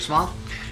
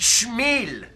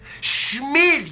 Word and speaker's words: Small: Ambassador Small? It is pronounced Schmiel. Schmiel, you idiot!